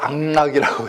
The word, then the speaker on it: 악락: 그 다음 달라 또 맹자는 제나라 선왕에게 독악락과 여인 악락, 이 악락이 독악락, 이게 왜 낙악이라고 안 하고 악락이라고 읽느냐? 음악학자 즐거울 학자.